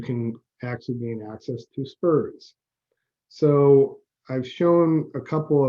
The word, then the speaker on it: SPRS: supplier performance risk system too many acronyms they pronounce it spurs so you might hear that term in order